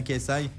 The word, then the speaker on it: KSI: Je je prononce bien. C'est bien KSI.